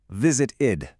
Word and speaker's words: visited: The verb visit already ends in a t sound. So to make it easy to say, we have to add that extra syllable. Visited, visited.